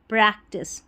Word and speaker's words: practice: आई सी ई TISS प्रैक्टिस। तो टी आई सी ई को टाइस नहीं पढ़ना है। टेस्ट करके पढ़ना है।